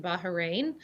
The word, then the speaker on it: Bahrain: the way just so our audience knows you pronounce it bahrain it is i lived in saudi arabia for